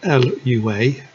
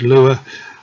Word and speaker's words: Lua: a language called Lua not sure how you pronounce it I pronounce it as lure um I'll car on using that name until someone tells me otherwise um but please feel free to correct me if there's a better pronunciation anyway within Eep you